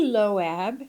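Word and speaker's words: Loeb: So, Avi Loab, it's spelled, his last name is spelled L O E B.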